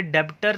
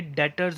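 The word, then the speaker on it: debtors: इसे डेट्स बोलते हैं, डेप्ट्स मत बोलना, बी साइलेंट होता है, डेट्स होता है ये, और ये डेप्टर नहीं होता, ये डेटर्स होता है, ठीक है बेटा।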